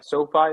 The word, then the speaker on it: SoFi: c e and x as an x-ray yeah sophie and then what was the last one uh